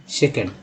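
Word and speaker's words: second: Next है क्षेत्र को बोलते हैं स्कोप, स्कोप, दोबारा या दूसरा, सेकंड, ठीक है, सेकंड, ओ को यहाँ पर आ उच्चारण किया गया है इसलिए सेकंड।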